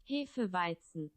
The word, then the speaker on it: Hefeweizen: Here it is according to Google Translate in German, Hefeweizen. which is closer to how the gnome pronounces it, and I am not a fan.